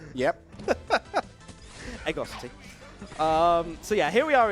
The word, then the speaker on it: Ego City: I'm not sure the pronunciation of that one of those stages. Eagle City? Is that, did we get it right? Yep. Egosity.